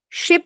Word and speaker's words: ship: Ship owners. What's ma'am? Ship owners. Ship owners. Mhm. The S. Okay, S sound is what you need to practice more. Is ship. Ship. Not sip Ship.